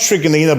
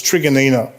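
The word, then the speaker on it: Truganina: postcode 3806 hoppers crossing tummy trigonina and it's pronounced trigonina by the way guys okay it's after an aboriginal elder okay it's it's just there's some weird pronunciation pronunciations of these suburbs but it's trigonina um 7972 then you have some regional towns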